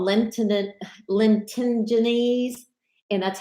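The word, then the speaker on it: lentigines: this word right here is called Linton at Linton ginnis and that's how it's pronounced actually that's another term for a freckle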